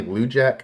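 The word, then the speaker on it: Lujack: I mispronounced his name Johnny Wujek I believe it's how it's pronounced great TTM ur one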